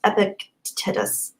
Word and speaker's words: Epictetus: art of living I never know how to pronounce this philosophers name by epic could just Epictetus epictetus thank you Gary McGregor I've heard good